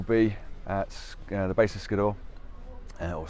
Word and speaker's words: Skiddaw: And then hopefully by about lunchtime we'll be at the base of Skiddaw, or Skidder, as I would think the locals would be pronouncing it.